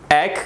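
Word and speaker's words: ache: और continuous pen, यानी एग का मतलब क्या होता है कि ACH ही वर्ड एग से प्रोनाउंस किया जाता है, जिसको एग और एचिंग भी कहा जाता है।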